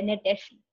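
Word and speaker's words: Gnetaceae: ये नेटेसी की स्पेलिंग है GNETACAE, जी साइलेंट है, नेटेसी, ठीक है?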